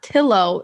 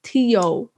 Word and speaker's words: Quarantillo: This is no, it's not Tillo. It's Tio. Like how quesadilla is pronounced with a Y.